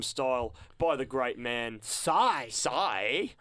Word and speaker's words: Psy: by the great man sigh sigh I used to say psy but um apparently so apparently it's so let's how you say it and of course why